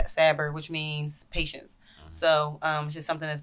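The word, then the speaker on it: صبر: name was severe or in arabic set but pronounced saber which means patience so um it's just something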